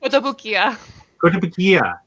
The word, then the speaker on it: Kotobukiya: Kotobukiya. Say it again. Kotobukiya? Kotobukiya. What did I say? Kotobukiya? Probably. You got the syllables right this time, though.